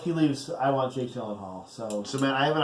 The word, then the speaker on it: Gyllenhaal: Gyllenhaal. Gyllenhaal. It's a soft G. I think it's Gyllenhaal. Gyllenhaal, maybe? Like Gilliam. Like Geely? Like Geely, maybe. I like that.